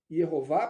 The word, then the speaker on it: Yehová: E eu posso explicar para vocês a razão do porquê eu uso a pronúncia Yehová para o nome de Deus.